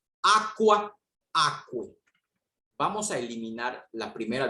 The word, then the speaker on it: aquae: Su genitivo, damas y caballeros, es aquae. Vean la terminación. Una termina con A y la otra termina con AE. Repito, diptongo AE se traduce, perdón, se pronuncia como E. Aqua, aquae.